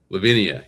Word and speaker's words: Levinia: Lavinia, you got it.